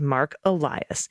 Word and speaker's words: Mark Elias: I believe the correct pronunciation of our intrepid voting rights lawyer is Mark Elias, as in, thank God for Mark Elias.